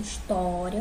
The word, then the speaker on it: história: Pela pronúncia história, o to é mais forte, né?